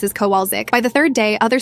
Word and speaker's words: Kowalczyk: "It's Kowalczyk," she shouted, slamming her hand on the desk. Kowalczyk.